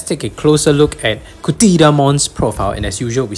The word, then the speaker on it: Cthyllamon: been doing so uh Kon is pronounced CA because basically it's from Greek origin so if you look